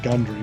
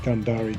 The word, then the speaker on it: Gundary: gundari planes i think some people say gundry with gundaari g-u-n-d-a-r-y is how it's spelled so i think that's gundara is probably correct what's notable about this